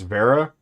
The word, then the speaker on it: Wera: I think it's Vera, but it's spelled Wera.